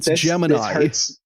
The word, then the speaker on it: Gemini: It's just like they have decided as an institution to pronounce it wrong and like enshrine that. I'm not going to do that. Fuck that. It's Gemini.